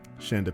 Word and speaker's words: Chanda: Chanda like panda, not Shonda like rhymes.